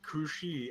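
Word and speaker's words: Cù Sìth: Yes, it is a Gaelic name.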